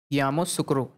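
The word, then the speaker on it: Yamoussoukro: यामोसुक्रो, ठीक है, कोटे डी आइवरी, और उसकी राजधानी क्या है?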